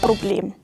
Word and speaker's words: Problem: So instead of "Problem" in standard German, we in Bavaria say "Broblem".